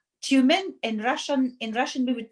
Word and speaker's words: Tyumen: Siberia, because of oil and gas industry, called Tyumen. In Russian, we would pronounce it Tyumen.